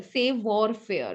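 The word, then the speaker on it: savoir-faire: okay save or fear save warfare okay that's the pronunciation again it's a french word okay so what is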